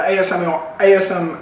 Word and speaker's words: ASMR: Am I saying it right? ASMR? Yeah. They're pronouncing it right.